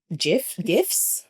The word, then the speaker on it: GIF: not relevant, but like it's GIF, guys. Graphic equals GIF. Get so over true. it. Graphic. Okay, so because you know BuzzFeed loves a GIF.